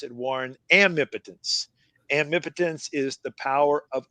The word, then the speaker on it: amipotence: And so I invented a new word, and I pronounce it, Warren, amipotence.